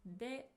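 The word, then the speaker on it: で: It's pronounced as you have already heard, de.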